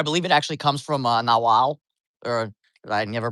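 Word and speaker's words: Náhuatl: I believe it actually comes from Nahuatl, or I never pronounce it correctly, Nahuatl.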